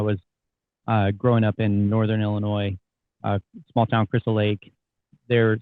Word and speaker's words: Illinois: And yeah, man, just happened to fall into a really good association, really good academy when I was growing up in Northern Illinois, small town Crystal Lake.